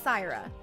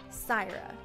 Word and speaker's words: Saira: My name is pronounced Syra. Very simple, Syra. Boom. Say it with me now, chat. Saira. Repeat after me. Say it out loud. Sigh. Sigh works too, Kelsey. Sigh also works.